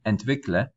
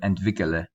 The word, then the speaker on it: entwickle: highlighted is because we did not add the E between the K and the L. You can technically, but I would say that this form, entwickle, is more preferred because it has one fewer syllable. So instead of entwickele.